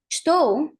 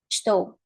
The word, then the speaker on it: estou: Maybe you expect to hear something like estou. If we actually say this way, estou, we would be pronouncing and saying clearly, well, enunciating every single sound. Estou. Right? But in real life, this is not what happens.